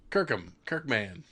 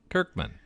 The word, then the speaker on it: Kirkman: He's gonna sue you if you keep mispronouncing his last name. Del Felici? No, Kirkman. Kirkham. Kirkman.